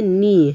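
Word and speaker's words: knee: Next দেখো নি, কে N double E নি, এর উচ্চারণটা হবে নি, হ্যাঁ কে দিয়ে শুরু কিন্তু আমরা উচ্চারণ করব নি।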